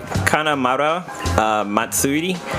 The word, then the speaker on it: Kanamara Matsuri: jumping back to the Japanese penis parade it's pronounced it's called a kanamara matsuri and if you translate that to English it